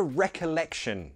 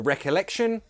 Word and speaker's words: recollection: To have a recollection of something or someone. A recollection, it's a memory, but it's just a more formal word for memory. Pronunciation. Recollection. Recollection. Recollection. The stress is here.